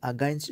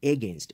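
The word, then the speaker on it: against: খেয়াল করুন এই জায়গায় যে আমরা লিখেছি যে পুশ ব্যাক আগেনস্ট সামথিং, অনেকেই এই আগেনস্ট শব্দটি অনুবাদ উচ্চারণ করেন এগেনস্ট, এটি এ না, এটি হবে কি আ।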